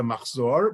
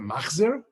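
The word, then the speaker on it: מחזור: The oldest Yiddish book on record is a Machzor, which in Yiddish is a Machzer, from Worms.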